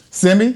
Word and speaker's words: Simi: You know, I think he's feeling that pressure from Simi. Did I say his name right? Yep. Simi.